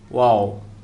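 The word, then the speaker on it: واو: অনেকে এটা পড়ে থাকেন ওয়া, কিন্তু না, এটার সঠিক উচ্চারণ হচ্ছে ওয়াও।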